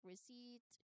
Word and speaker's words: receipt: So, the E I combination making a single long E sound shows how two letters can form one distinct sound, highlighting the nature of the vowel digraphs.